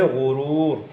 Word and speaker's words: غرور: ہے غرور، ایک ہے غرور۔ تو جو صحیح تلفظ والا ہے وہ ہے غرور۔ اسی طرح پست، پست، پست، تو صحیح والا